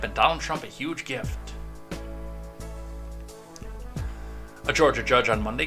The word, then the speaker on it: GIF: with a video oh it's a gif it's hard g by the way well we'll see what